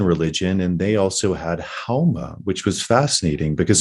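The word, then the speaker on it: Haoma: and they also had Hauma, which was fascinating because in Farsi you don't pronounce the S, you pronounce it like an H.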